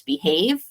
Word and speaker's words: behave: vowel along so um instead of it being behalf it's with the E on the end it's behave uh like with the